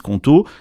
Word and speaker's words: Qonto: Justement, c'est là que Conto change la donne, parce qu'ils ont non seulement